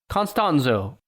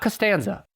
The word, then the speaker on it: Constanzo: by aldolfo de jesus constanzo not costanza but cause constanzo he's getting upset it's aldolfo not jorge oh i get it because you're saying george that's that's funny yeah constanzo a cuban american drug